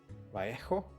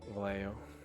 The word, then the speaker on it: Vallejo: I think it's a Spanish brand, so actually it's called, because double L is pronounced as like a J, so it's actually Vallejo, I think, but that